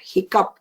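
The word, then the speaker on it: hiccough: away with that but if you ever see h i c c o u g h anywhere you will know that it is a hiccup and nothing else just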